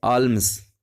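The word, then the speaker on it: alms: और ये जो वर्ड आप देख रहे हैं आल्म्स, वैसे एल साइलेंट रहता है, आर्म्स भी बोला जाता है इसको।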